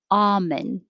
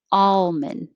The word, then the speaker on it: almond: options here too but the most common according to merriam-webster was ah no l almond and with the l almond and then there was also ammon and almond but most commonly almond and almond 33 particularly particularly particularly